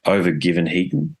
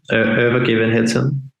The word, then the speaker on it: Övergivenheten: hear uh and I'm I'm undoubtedly going to mispronounce the name of the album but it's over given Heaton is that correct yeah it's close enough ever given hitson I would say but yeah it's Swedish I'm